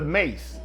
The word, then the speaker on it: mace: apple pie it's the mace now it's spelled just like mace m-a-c-e it is the outer